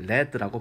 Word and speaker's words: lead: 명사로 lead라고 발음하죠.